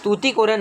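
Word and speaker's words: Tuticorin: तूती कोरिन तुती कोरन तुती कोरन है वैसे सही उच्चारण इसका तुती कोरन है इसमें सही नहीं दिखाई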